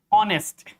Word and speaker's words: honest: Similarly, in this case, there are some words in rule number nine, there are some words in which the sound of H is silent. Like in the word honest, hour, honor, heir.